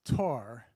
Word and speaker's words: Thor: son um it's pron it's spelled Thor but it's pronounced Tor which I know because